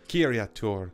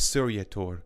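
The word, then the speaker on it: Ciryatur: This fleet was commanded by Admiral Kiriatur, which unfortunately I pronounced incorrectly in my previous video, as Suryator.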